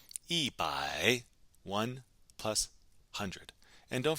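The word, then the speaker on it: 一: 100 we would say e one plus 100 and don't forget the tone Sandy rule here too right e for one is normally pronounced with first tone but when it's followed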